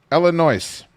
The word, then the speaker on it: Illinois: Isn't it one of the first things that they teach you in school that the S is silent? Illinois.